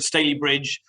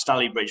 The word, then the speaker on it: Stalybridge: I only have one complaint, that the Staley Bridge isn't pronounced Staley Bridge, but I'm going to forgive you for that, Michael. It's all right. It rhymes with gravy.